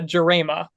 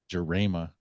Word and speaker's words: Jarema: Baseball Club of Lansing, Michigan, we have Jarema. Well, I'm going with Jarema. Jarema. Was I Jarema. closer? It's wait, am I muted? Can you hear me? No, we can hear you. Okay, it's Jarema.